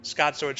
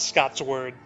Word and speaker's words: Scotsword: without having already seen Scotsword's channel. But uh, for those of you hypothetical people out there, it's Scott, Scot, sword, like slicing around with a sword, not Scott's word, spelled the same.